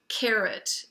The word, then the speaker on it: carrot: Ut of carrot has a T at the end. It should make ah. That O should say ah for octopus. But it's a schwa O because there's no accent on that part of the word.